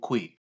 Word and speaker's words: Kwei: In Ghana, we have a name in my clan called Kwe. Okay. We have a Mm, name called Kwe, mm. and it's spelled Kwei.